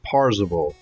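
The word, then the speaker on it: Parzival: I demand attention parsable it's actually pronounced parsable PA r z IV al i think it is is it possible yeah PA r zi v al it's supposed to be like parcel you know yeah PA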